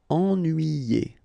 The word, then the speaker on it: ennuyé: Ennuyé. Okay, so first en, then nuit, then yé. Ennuyé.